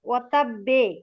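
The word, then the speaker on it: وَتَبَّ: হ্যাঁ আপু, প্রথমে আর কি ব পরে আবার বয়কার ওয়াতাব্বে। মানে তাসদিদ, হ্যাঁ ঠিক আছে আপু। ওয়াতাব্বে প্রথমে হচ্ছে জাস্ট জজমের মতো, পরে হচ্ছে কলকলার একটা উচ্চারণ হবে।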